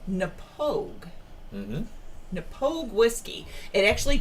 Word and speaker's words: Knappogue: Actually, it's not that difficult to pronounce. To look at the bottle, it looks pretty complicated, but it's called Knappogue.